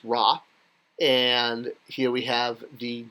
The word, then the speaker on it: Ra: here so so here we have the sundisk pronounced raw and here we have the jug with a